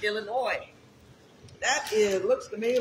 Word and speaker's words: Illinois: so annoyed when we call it illinois yes is silent what you got it's illinois that it looks to me like some some